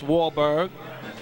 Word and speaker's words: Wahlberg: name, but you know, the last name, I know how to properly pronounce it. It's Wahlberg.